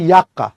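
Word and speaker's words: Yucca: আর লেপ্টোসেন্ট্রিকের উদাহরণ হচ্ছে ড্রাসিনা আর একটা মনে রাখবা ইয়াক্কা, এর উচ্চারণ হচ্ছে ইয়াক্কা, ইয়াক্কা।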